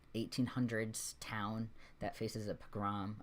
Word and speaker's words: pogrom: And he actually set it in a fictional setting of like I think 1800s town that faces a pogrom.